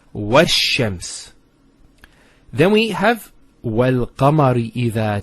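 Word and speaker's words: والشمس: Similarly, this lam is not pronounced either, because as we said, this is from the sun letters, and there's a shadda there, so it's wash-shams.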